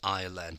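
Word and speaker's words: island: an Ireland in English and you don't pronounce the s in Ireland but it's still there when you write it and of course anal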